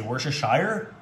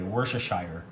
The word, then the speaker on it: Worcestershire: Some people pronounce it wrong. They say Worcestershire, but I pronounce it the correct way, Worcestershire.